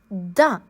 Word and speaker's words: dent: La dent. Tu peux remarquer ici que le T est une lettre muette, donc on ne l'entend pas dans le mot dent. L, A, la, D, A, dent.